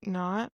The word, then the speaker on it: not: But the T, it's not pronounced, but it stops the air. Not. Not. Not Not.